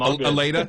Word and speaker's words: Allata: Aleta?